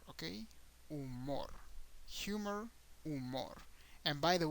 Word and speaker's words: humor: and in Spanish is umor okay umor humor umor and by the way in Spanish the H doesn't have a sound at all so never pronounce the h just ignore the H